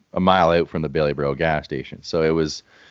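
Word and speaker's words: Bailieboro: never heard of this town, and I'm gonna pronounce it as best I can. Is it Baileyborough? You nailed it. It's Baileyborough.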